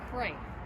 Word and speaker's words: Cret: This bridge was designed in 1927 by a famous Philadelphia architect, Paul Cray. I think it's pronounced Cray, C-R-E-T, and the engineer was Ralph Majeski.